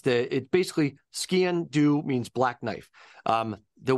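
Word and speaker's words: sgian-dubh: just for the listeners um the way you pronounce it's the it basically skan do means black knife um the way to remember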